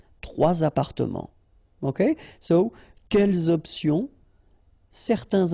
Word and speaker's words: trois appartements: So you should make the liaison. Trois appartements. Okay, so quelles options? Certains individus, trois appartements.